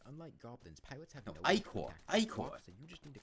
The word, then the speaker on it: Ichor: No, that's not how that word is pronounced. Very good at dealing damage. Stop. Ichor.